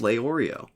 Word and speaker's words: Leorio: this comment starts with, it's pronounced Leorio. So we know. Lay like lay down and Oreo like the cookie.